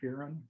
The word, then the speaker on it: Fearon: Fearon, is that how you pronounce it? Fearon. Fearon, yeah. Fearon.